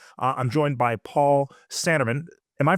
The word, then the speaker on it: Sanneman: So today, uh, I'm joined by Paul Sanerman. Am I pronouncing it correctly, Paul?